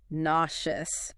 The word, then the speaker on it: nauseous: And the emphasis is on the first syllable. Enducious. Katherine points out that some people say n O's, which is fine, too. Right. It's one of those words with a bit of variation depending on your region.